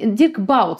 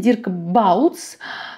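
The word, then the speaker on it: Dirk Bouts: да следующий такой интересный дикбаут вернее его правильно произносить дирк балдс тоже художник вот такой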